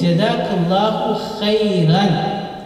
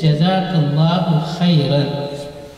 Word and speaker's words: Jazakallahu khayran: So that's why my teaching is to say Jazakallahu khayran, full dua. May Allah reward you in the best manner. Jazakallahu khayran. This is number one. And number two, the correct pronunciation is Jazakallahu khayran or Jazakallahu khayra.